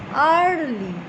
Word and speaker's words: early: আর্লি দেখো আবার সেই দিয়ে, এইখানে কিন্তু উচ্চারণটা দেখো ই দিয়ে কিন্তু আর আমরা এ উচ্চারণ করছি না, এ একসঙ্গে আমরা কি করছি, ইয়া।